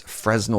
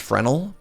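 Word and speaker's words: Fresnel: I don't know if I'm supposed to pronounce the S. This Frenal lens. It's always tough lowering your max HP, but here we are. Oh, cool. All right, Discovery. What's up, homie? It's just Frenel.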